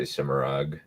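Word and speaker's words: Semirhage: I believe it's a soft G, just so you know. Semira? Cimarog. No, J. Like more Cimarog. like Semirage, yeah.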